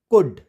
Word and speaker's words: could: वैसे COULD, कुड, कुड, क्यों, क्योंकि यू वावल आ गया।